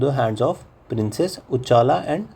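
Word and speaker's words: Uccala: हर्षा जो था विद ह सन भोजा वर murdered and throne of Kashmir passed इनू the hands of princess उजाला एंड सुसाला। ठीक है? ऐसे ही प्रोनाउंस करते हैं इसको।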